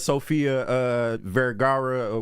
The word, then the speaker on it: Sofia Vergara: Hey, I always been a fan of Sofia Vergara. What's how you pronounce that?